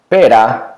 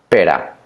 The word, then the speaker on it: pera: hit ramiro for example pera which is pure perra the one hit the light sound the strong sound but notice that you